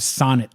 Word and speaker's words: Sonett: you what a Saab Sonett looks to a sonnet to Saab Sonett oh yeah so it's spelled weird it's s o n ET t so that's that's the sonnet see the overhang on